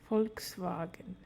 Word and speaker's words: Volkswagen: zra the AA on V which is f because v stands for f f f Volkswagen Volkswagen for for the